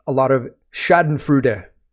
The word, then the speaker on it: schadenfreude: it's a lot of Shaden frud which is how you say that word I've heard and we'll talk about